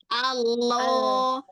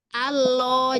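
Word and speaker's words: الله: Nah, jadi Allah yang jadiin dia tebal pangkal lidahnya naik. Coba saya begitu tapi enggak naikin pangkal lidah. Allah jadinya Allah.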